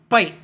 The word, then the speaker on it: bite: If we add the letter E, the E makes the I say its name. So we say bite.